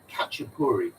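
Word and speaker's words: khachapuri: maybe even make yourself it's called kupuri which is spelled k h a c h i can't remember but it's definitely KH to start with catri it's from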